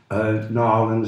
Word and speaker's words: New Orleans: The district attorney in New Orleans, Nolens is pronounced, Nolens one word, Jim Garrison filed charges